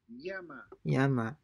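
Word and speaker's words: llama: widely from recent region most commonly is pronounced like the y in the word yes or like the um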